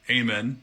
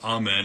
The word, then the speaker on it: Amen: First name's easy, Amen, as opposed to Amen. It's Amen.